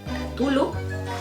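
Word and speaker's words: Cthulhu: mitología conocidas como los mitos de tulu tulu creo que se pronuncia y eh todo esto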